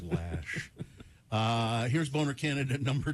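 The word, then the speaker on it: Loesch: I think it's Dana lash I say Loach because it rhymes with roach it looks like losh but I think she called says lash uh here's boner candidate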